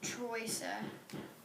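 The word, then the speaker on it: Троица: The next is Trinity, also known as Troisa. That's how they pronounce it.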